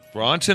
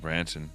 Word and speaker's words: Branson: Bronson or Branson? I don't know. How do you say his name? I say it Branson. Richard Branson. Charles Bronson and Richard Branson. Two different fellas.